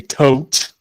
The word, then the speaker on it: Thoth: I should use my Thoth deck just so I could say tote, which is how I actually pronounce it.